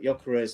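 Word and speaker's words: Gyökeres: left out u uh Yakarez. I'm saying his name now because I promise that when we win the title, it won't be Geek anymore. or it's now Yakarez as it should be pronounced.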